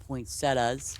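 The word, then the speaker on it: poinsettia: Poinsettas. Poinsetta. It's how you say it in Boston by the way. poinsetta not a and and also in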